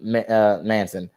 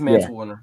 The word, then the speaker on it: Mance Warner: I think I called him Manson. Yeah, I think it's Manson. Yeah, Mance It's Warner. Mance Warner. It is Mance Warner.